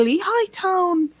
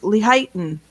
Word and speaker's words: Lehighton: So we've got to go into Lehigh Town instead of Lehighton. It was Lehigh Town.